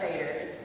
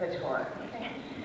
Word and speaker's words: Bator: But on top of that, I had to learn how to pronounce names like Bator, which is not Vader, it's Bator.